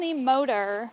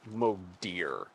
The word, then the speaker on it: Modir: day uh yeah when you said the motor no it's got to say it right it's Moder because that's what apparently